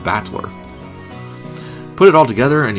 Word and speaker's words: Battler: far the problem is my own name is made up with the characters for fight in person and it's pronounced in battler put it all together